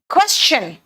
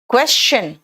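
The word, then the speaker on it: question: अगर S के बाद TION आएगा तो बेटा ये शन नहीं होगा, ये शन का प्रोनाउंसिएशन चन हो जाएगा। क्वेश्चन, सजेशन, समझ में आया? क्वेश्चन, सजेशन और मोशन होता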